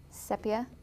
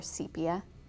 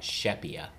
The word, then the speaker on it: sepia: and emerald green and sepia or sepia you can actually pronounce it both ways about shepia that one i don't think so and then the